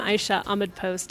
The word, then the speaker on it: Aisha Ahmad-Post: up so I'm gonna let you let you pronounce it one more time for us I'm I shot a mid post and thank you so much it's been a